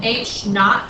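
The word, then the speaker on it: H₀: in seconds and then H naught so it's H Sub Zero that's how you say it H naught that's the object's initial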